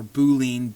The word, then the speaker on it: Boolean: These are called Boolean operators, or Boolean, B-O-O-L-E-A-N. I've heard it pronounced both ways.